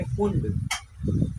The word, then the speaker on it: Pfund: पांचवी वाले को बोलेंगे फुंड, PFUND, फुंड सीरीज, ठीक है।